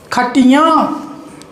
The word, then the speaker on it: खटियां: इसको बदल दिया गुड़ियां चंद्र बिंदु लगाते ही यह बहुवचन बन जाएगा और इसके उच्चारण में भी भिन्नता आ जाएगी यहां पढेंगे खटिया यहां पड़ेगी खटियां या पढेंगे गुड़िया यहां पढेंगे गुठलियां यहां पढेंगे चिड़ियां यहां पढेंगे चिड़ियां यही नाक से आवाज आएगी इनके उच्चारण में लिखने में भिन्नता यहां